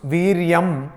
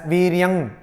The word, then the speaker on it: Viryam: Some people, they pronounce Viryam as Viryang. Generally, Bengali has this problem. So it is not Viryang, it is Viryam.